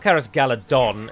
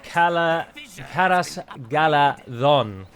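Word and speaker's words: Caras Galadhon: be absolutely fantastic uh it's not charis galadon it's kala karass idiots god idiot no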